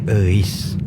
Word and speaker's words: Euis: Itu tuh nama Sunda, bro, dibacanya Eis.